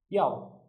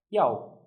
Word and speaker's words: 要: This character is yao. Yao. It's a force tone. Try to say it with me. Yao. Yao. Out loud. Yao.